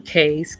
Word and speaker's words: Caye: Belize is made up of a bunch of little small islands, and they call them cays. Caye is how it's spelled.